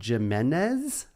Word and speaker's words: Jimenez: So this is the first Pixar short with 2 directors, Mark Andrew and Andrew Jimenez. Is that true? That's how you pronounce that name, yeah.